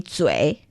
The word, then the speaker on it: 嘴: Okay, so 嘴, that's the third tone. Yeah. And 巴 there is the light tone. So 嘴巴.